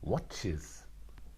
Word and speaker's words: watches: Here the S is not just watches, but it is watches. The end is watch, and so you need another syllable.